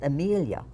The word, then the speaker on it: Emilia: It's Emilia, which is pronounced Emilia, and it comes from the Polish version of Emilia.